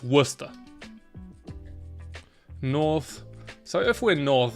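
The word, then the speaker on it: Worcester: Americans pronounce this wrong it's not war Chester it's Worster North so if we're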